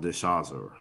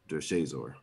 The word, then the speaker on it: DeShazor: His last name's Everett, obviously, but I guess his first name is pronounced DeShazor. DeShazor.